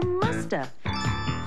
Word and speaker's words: must have: mean must have been we can say must have in conversation and sometimes we don't pronounce the V and so you hear Musta she must have been